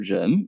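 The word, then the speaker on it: 人: is a transformation of a very simple character gem meaning person we have learned this character in our first lesson for all beginners is the gen is originally written in this way and when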